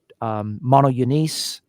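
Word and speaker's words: μονογενής: This word monogenes, that's how it's pronounced in the modern Greek.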